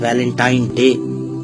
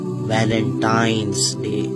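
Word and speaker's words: Valentine's Day: है अब आप इस वैलेंटाइन डे के नाम पर गौर करें इसे जो आम कहा जाता है यह वैलेंटाइन डे है लेकिन हकीकत में जो इसका प्रोनाउंस एशन है वह है वैलेंटाइंस डे य वैलेंटाइन वाला दिन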